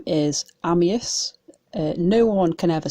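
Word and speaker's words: Amyas: And the way it was said then is Ammius, which is how I like it said. But I've also heard Ammius, Amius, a lot of different pronunciations.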